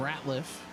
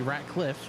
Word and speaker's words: Ratcliffe: As also heading down pit road is the number 19 of William Ratcliffe. Pardon me, Ratcliffe.